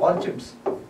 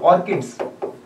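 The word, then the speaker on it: orchids: Excellent conditions हैं फॉर the cultivation of ऑर्चिड्स और ऑर्किड्स। Different जगहों पे डिफरेंट प्रोनाउंसिएशन है।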